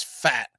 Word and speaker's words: Pfaadt: Now it's spelled Pfaadt, but it's Fat.